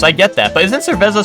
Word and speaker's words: cerveza: Oh, you pronounce it as a Z or TH depending on the region, gotcha.